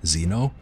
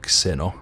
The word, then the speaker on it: Xeno: sniper who I guess I should pronounce Zeno instead of Xeno with KS like a I would say it as a Finn um the thing is